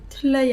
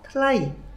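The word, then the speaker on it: ថ្លៃ: 틀려이 아니. 이상해요. 네, 제가 잘못 읽을 때마다 까니까 선생님이 웃는데 이렇게 읽히지 않으니까 그렇지요. 러는 무시해도 됩니다. 아니요, 무시해야 되는 애예요. 그렇기 때문에 터의 발음을 따라갑시다. 1그룹을 따라가서 틀라이, 네, 틀라이.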